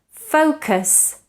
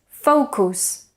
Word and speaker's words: focus: sofyan north in guava take a look at these words which Spanish and Catalan speakers tend to mispronounce because of precisely schwa actor famous focus consider so we shouldn't say actor famous consider and focus so again we should produce a schwa in the unstressed syllables again actor famous consider